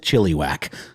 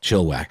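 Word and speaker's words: Chilliwack: of Canada once and I pronounced it Chile back and I got yelled at so chill whack this one though is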